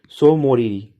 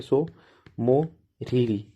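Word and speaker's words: Tso Moriri: एक और लेख है सो मोरीरी कौन सा है शो टी साइलेंट है सो मोरीरी लेक है तो लद्दाख में दो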